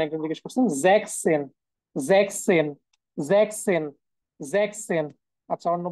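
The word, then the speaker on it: sechzehn: আচ্ছা, 16-এর উচ্চারণ একজন জিজ্ঞেস করছেন, জ্যাকসেন, জ্যাকসেন, জ্যাকসেন, জ্যাকসেন।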